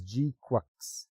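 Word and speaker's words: GQuuuuuuX: So Mobile Suit Gundam GQ is pronounced as GQux.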